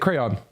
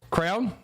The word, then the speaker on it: crayon: I say I say it crayon. Crown. I mostly I'm I'm not even going to lie. I totally say crown.